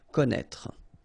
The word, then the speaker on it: connaître: Okay, so you get this accent circonflexe on the top of I here, but then, you don't pronounce it, okay, so don't be afraid by this accent circonflexe because you won't pronounce it.